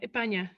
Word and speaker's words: España: Yeah, España. They don't really pronounce their S's.